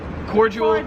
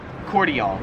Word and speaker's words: cordial: So yeah, in America we pronounce it cordial, whereas here in Australia it's pronounced cordial.